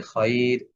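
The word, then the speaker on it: خَيْر: তবে আমরা একটা ব্যতিক্রম শব্দ পাইছি, সেটা হচ্ছে এই যে খয়র। এখানে যদিও সাকিন, তার পূর্বে সুকুন, তার পূর্বে জবর হওয়া সত্ত্বেও এটা পাতলা করে উচ্চারণ করতে হবে।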